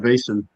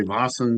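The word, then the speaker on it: Vaesen: Uh I call it Vas. Some people say Vasan. I don't know what I'm saying. I'm not Swedish, so I call it bas um because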